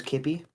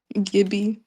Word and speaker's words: Gibby: You say his name was Kippy? Gibby, yes. Gibby with his G. Gibby? Yeah. Gibby with a G.